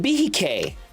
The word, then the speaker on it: Behike: It's a Cohiba Behike is how you pronounce it.